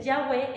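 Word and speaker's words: Yahweh: O sea, cuando ellos dicen Yahweé es como Yahweé, respiré.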